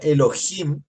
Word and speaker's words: Elohim: tiene esa terminación plural si fuera singular sería solamente el o Elo pero como tiene Im se pronuncia Elohim lo cual quiere decir